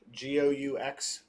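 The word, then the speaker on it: Goux: So here's the A cover by Carrie, and here is the B cover by Gou, G-O-U-X. I'll have to look up how to pronounce Go.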